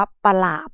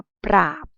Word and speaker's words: ปราบ: 2 อ่าน คำ ว่า ไม่ ได้ อ่าน ว่า ปะ หลาบ นะ ลูก อ่าน ว่า ปราบ ตวาด ตรง นี้ นะ